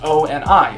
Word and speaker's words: ONI: accessory to the oasis he calls it oni and insists that it be pronounced o and i the letters i'm going to call